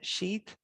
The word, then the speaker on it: Sidhe: but the approximation that we have for the pronunciation would be s i thought that d would be uh sheath and the same then as i father t